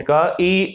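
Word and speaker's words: χ: Greek letter बेटा, इसको हम काई बोलते हैं। ची बोलते हैं, इसकी प्रोनाउंसिएशन ची है, काई बोलते हैं इसको, ग्रीक लेटर है।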